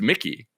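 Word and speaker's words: Makee: also best revelation of last week's episode it's mickey not mache anything it's mickey mouse that's her name that's how you pronounce it apparently okay here we go i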